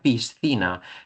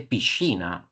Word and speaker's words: piscina: En español se pronuncia piscina, pero fonológicamente eh en italiano se dice pichina, es decir, que cambia, ¿no?, la pronunciación.